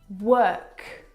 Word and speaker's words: work: word world and work now you're probably mispronouncing these words because you are looking at the o.r and you're trying to pronounce the vowel sound or like in door but this is incorrect the vowel sound is actually as in her work world word this is your